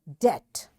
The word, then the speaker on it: debt: letter t is there this letter t makes this b silent and we don't say it and we say debt doubt b is silent